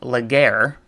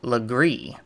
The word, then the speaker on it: Legare: what I noticed was that it is not pronounced leer as it looks on the title of the podcast and on my blog but it is actually pronounced lree according to um an article I found uh